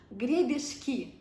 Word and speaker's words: гребешки: Scallops in Russian are гребешки.